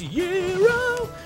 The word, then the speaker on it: gyro: He's going to get a gyro, although it's technically pronounced Euro.